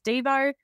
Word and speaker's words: Devo: his nickname was always dvo and we always say it's uh dvo as in whip it good like the song not Devo as in do you'll be devastated